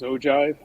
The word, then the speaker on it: ogive: I prefer the ogive. Don't we all? And That's actually a physics term, and that's the correct pronunciation in physics. Is ogive.